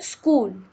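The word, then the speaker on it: school: colour किया है क्यों क्योंकि यह एक साइलेंट लेटर है इसको हम लज में ते हैं लेकिन हम इसके आवाज को नहीं बोलते हैं हम इसे स्कूल कहते हैं एट का जो साउंड है हम बोलते नहीं है यहां पर लिखा है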